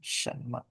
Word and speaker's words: 什么: Ini me-nya tidak ada nada ya, ingat ya. Shenme. Jadi lebih cepat bacanya me.